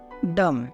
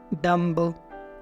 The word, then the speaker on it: dumb: हैं, इसको हम बोलते हैं कॉम, बॉम, थम, डम, ना कि कॉम्ब, बॉम्ब, थम्ब, डम्ब।